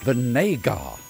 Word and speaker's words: Vinégar: It's pronounced Vinégar.